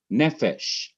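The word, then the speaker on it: נפש: and Derek means way nephesh notice again NE is one syllable fesh is the second syllable fesh is also the last syllable fesh would normally be the syllable that is accent ented in another word but in this particular word nephesh it is not accented and to let the reader know that he or she is not so supposed to emphasize fesh but emphasize the syllable before the last syllable which is NE the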